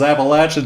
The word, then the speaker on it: Appalachian: 4 syllables, Appalachian State.